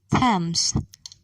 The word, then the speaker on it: Thames: few names listen and say these words thailand thames thomas note the letter t is silent in a few words listen and say